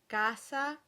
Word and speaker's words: casa: this are the words casa, cosa, and the suffix oso, which also includes the gender and number variants osa, ose, and osi. Nonetheless, many speakers of Italian pronounce these with the Z sound, and many coaches recommend